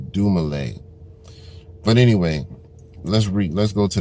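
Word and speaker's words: Dumile: Right above my government, Dumale. You know, you got to make sure you pronounce that name right. You know what I mean? My man's name is not Dumil or none of that other dumb shit.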